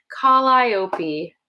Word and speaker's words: Calliope: So long I, accent on the I, Calliope.